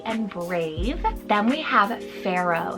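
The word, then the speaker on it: Farrow: means courageous healthy and brave then we have Pharaoh spell f a r r o w Pharaoh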